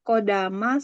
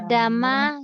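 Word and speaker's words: قدّم: Ustazah itu yang atas kodama sama yakdamu. Bacanya apa? Qaddama yuqaddimu.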